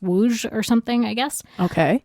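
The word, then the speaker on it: Łódź: they were from uh woj which it's spelled l o DZ with a with a slash in the O but it's pronounced woj or something I guess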